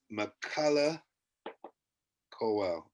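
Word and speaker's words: Michaela Coel: i couldn't hear you the first time it's mccullah cowell or mike or michael mckellar well she is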